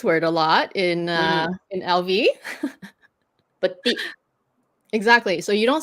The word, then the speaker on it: petit: It's like a little bit more softer, but they're Petit. both right. Petit. Yes. You don't at the end lah. You don't do the last consonant.